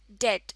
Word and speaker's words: debt: Debt इसमें b silent है और इसको debt प्रोनाउंस करते हैं.